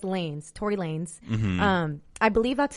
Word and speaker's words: Tory Lanez: first ask so it's Tory Lanez not like Tory Lana's I thought it was Lana's I feel like that's how you pronounce it in Spanish like Lana's but it's lanes Tory Lanez I believe